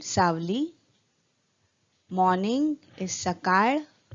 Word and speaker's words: सकाळ: Morning is सकाळ. The letter is a bit difficult for the non-Maharashtrians to pronounce. So it is called सकाळ.